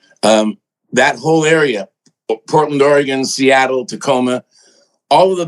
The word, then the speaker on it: Oregon: is that is that is that the right pronunciation of Oregon that's it Oregon yeah yeah I wasn't sure if you know